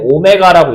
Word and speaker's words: 오메가: 생긴 건 w처럼 생겼는데요. 읽을 때는 오메가라고 읽어요.